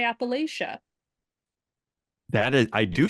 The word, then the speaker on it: Appalachia: is uh if you're if you're from the Appalachian region you probably say Appalachia if you're from outside of it you probably say Appalachia that is I do